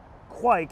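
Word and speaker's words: kveik: here speaking of trends this is quick which is spelled k-v-e-i-k quik it's a norwegian yeast which ferments super fast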